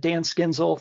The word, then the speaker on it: Dan Skiendziel: introduction uh of myself uh like kin said Dan schinzel that's how you pronounce that uh that long name there but